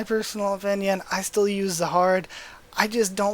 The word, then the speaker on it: Zahard: I just don't like the name Jihad that much, and phonetically it's more like Zahado. So because that's more of the phonetics of it, I kind of like it starting with the Z.